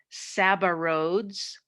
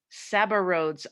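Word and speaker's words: Sabouraud: strange looking word but it's pronounced saba rhodes saba rhodes auger and this agar this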